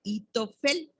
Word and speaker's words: Ahitofel: Y miren, Ahitofel en hebreo se pronuncia Itofel y su nombre significa